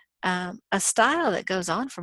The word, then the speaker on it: et: And then you're going to say afterwards et al, which is short for et alia, which means and others. Et means and that's Latin, but you probably know in French, et is pronounced a, and that means and alia means others.